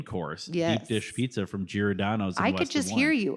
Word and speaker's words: Giordano's: Giordano's.